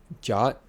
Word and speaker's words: JWT: of claims that a i'm going to call jwt jot they um suggest doing that earlier in this and i like that because it's a single syllable so from now on